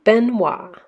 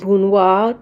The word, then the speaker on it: Benoit: Madame Jehane Benoit is how you would say it. So Jehane, you don't pronounce the H is silent. Benoit, the T is silent. T is silent, okay?